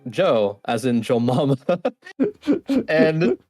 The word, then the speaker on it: Jyo: a lot of people tend to call me Geo uh so I was like just like to reiterate reiterate yeah I can't speak um how to pronounce I was like oh yeah like Joe as in Joe mama and she read it